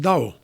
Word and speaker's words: Tao: It's written Tao, but you pronounce it Dao.